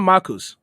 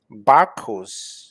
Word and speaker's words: Barcos: It's not Marcus. Barcos.